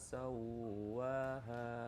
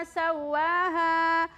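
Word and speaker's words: سوّاها: Ya, jadi ketika huruf ada tanda tasdid, maka cara membacanya ditahan selama 2 harokat atau 2 ketukan ya. Wa nafsi wa ma sawaha. Kalau cepat-cepat Wa nafsi wa ma sawwaha. Ada tanda tasdid tetapi ketukannya masih kurang.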